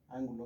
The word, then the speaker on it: ángulo: Ángulo se le pone acento en la A porque esa palabra es esdrújula, ¿ok?